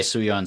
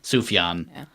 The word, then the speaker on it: Sufjan: cavity here's a joy to the world by soo Yeon Stevens did I I say that right I think I've been I think I've been pronouncing its oof John Stephens for a yen Sufjan so none of us were right and by